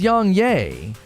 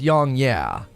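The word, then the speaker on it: YongYea: he says young yay it's young yeah as in yeah i agree a coup de papa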